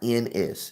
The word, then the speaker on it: Hollins: That's spelled Hollins. It's like Collins, except with an H.